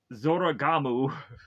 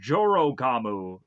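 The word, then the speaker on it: Jorōgumo: So Hellboy goes on and meets with uh, the Zoragamu. God, do I have to keep pronouncing that? Or Jorogamu.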